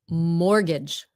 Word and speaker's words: mortgage: Mortgage. Mortgage. Mortgage. Mortgage. inviting. That's That's called a mortgage. Look up. I've never heard that before. So, mortgage. Mortgage. You don't pronounce the T.